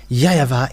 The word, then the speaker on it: YAHVAH: In Eastern part, the W for them, they pronounce it as V or B.